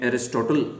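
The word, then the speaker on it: Aristotle: एक और यूनानी चिंतक विचारक अरस्तु, जिनको प्रोनाउंसिएशन इंग्लिश में एरिस्टोटल करते हैं, अरस्तु ने अधिक स्पष्ट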